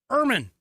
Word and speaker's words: ermine: Earl the Ermine. Yeah, ermine is supposed to rhyme. To pronounce it, you're supposed to rhyme with vermin.